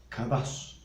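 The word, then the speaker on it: קדש: En el Antiguo Testamento, la palabra santificar está escrita en hebreo, con un término que se pronuncia kadash.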